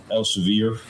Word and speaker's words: Elsevier: And Elsevier, is that am I pronouncing that right?